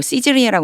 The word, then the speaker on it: Caesarea: At Caesarea 요거 시즈리아라고 읽는다고 앞에서도 나왔었어요.